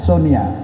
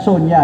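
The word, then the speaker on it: Sony: Dia mengalahkan Sonia, ya Sonia. Dulu di kampung bacanya kan Sonia kan, tapi kita bacanya kan Sonia karena di Jepang itu konsonan yang ada itu kan N.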